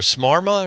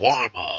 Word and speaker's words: shawarma: What is there, a smarma, or how do you say it? Shawarma.